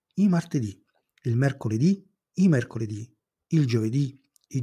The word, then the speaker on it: mercoledì: e di genere femminile le parole con l'accento sull'ultima sillaba si chiamano tronche e non cambiano al plurale esempi il lunedì il lunedì il martedì Il martedì il mercoledì il mercoledì il giovedì